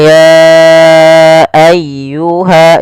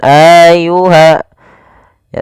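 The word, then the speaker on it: يا أيها: Kemudian, dalam pengucapan ayyuhal kafirun, huruf ya harus diberi penekanan. Qul ya ayyuha, bukan ayyuha ya.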